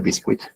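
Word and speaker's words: BQSKit: Eh, el chiste no funciona en español de QC o boot, pero bueno, en inglés se pronuncia bisquit eh en donde de vuelta para ciertos benchmos hemos visto producciones en en la salida.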